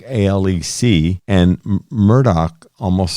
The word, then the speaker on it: Alex: audio on the series he pronounces his name Alec as opposed to Alex and the last name